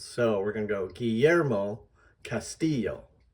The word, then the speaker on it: Guillermo Castillo: We want to say Guillermo Castillo. And of course, the emphasis is on the second syllables. So we're going to go Guillermo Castillo.